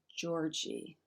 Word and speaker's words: Treworgey: It's Treworgey, and it's Tjorgi. I'm sure I'm messing that up, but it's close.